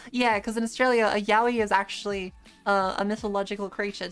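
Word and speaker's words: Yowie: other stores were just yaoi.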